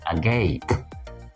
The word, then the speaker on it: agape: especially with your mouth Agape your mouth Agape a gape with the stress on the second syllable a g that is